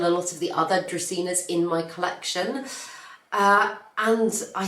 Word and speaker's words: Dracaena: I believe it is pronounced Dracaena. I, for years, have been saying Dracaena, and I keep getting corrected, so I'm going to try and say Dracaena from now on.